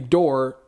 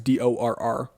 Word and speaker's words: Dorr: Apparently, Dorr, I think I'm pronouncing it right, it's DORR.